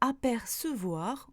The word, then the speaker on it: apercevoir: Idem avec ce, on prononce le E toujours avec ce, comme dans apercevoir ou recevoir.